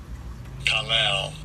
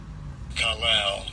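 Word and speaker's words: קָלַל: And I'll give you the pronunciation. Strong's H 7043. Kalal. Kalal. It says kalal.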